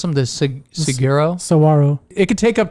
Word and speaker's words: saguaro: Yeah, so I guess some of those cactus, how do you pronounce them? The saguaro?